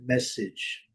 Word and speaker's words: message: Então, tecnicamente é essa pronúncia, message, message. Primeira sílaba forte, o A com som de I, o E não é pronunciado.